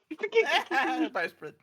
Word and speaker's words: Bowsprit: it's pronounced bow because it's spelled bow. Bowsprit.